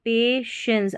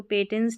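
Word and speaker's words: patience: क्या दिखा सकता है, पेशेंस, अब इसको पेटेंस नहीं पढ़ेंगे, पेशेंस पढ़ेंगे, टी आई को शो पढ़ा गया है, तो पेशेंस धैर्य दिखा सकता है, बहुत खास जो है धैर्य दिखा सकता है।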